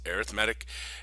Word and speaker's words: arithmetic: our job is to identify and evaluate both arithmetic yes I said that right arithmetic and I know it's spelled the same as arithmetic but it's arithmetic and geometric sequences all right a sequence is